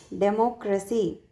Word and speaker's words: democracy: See. Democracy. Demo. Mo. Here see third syllable was stressed here.